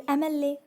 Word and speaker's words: MLA: क्यों, इसका जो हम भले एम लिखा है लेकिन जब इसका उच्चारण करते हैं एम पढ़ते हैं, ठीक है, एम। तो ये जो है स्वर से उच्चारण हो रहा है, वॉवल से उच्चारण हो रहा है, इसलिए इसके पहले एन का यूज़ किया जाएगा।